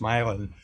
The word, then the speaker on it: Milan: I grew up in northern Ohio in a small town called Milan, like Milan, Italy, but pronounced Milan.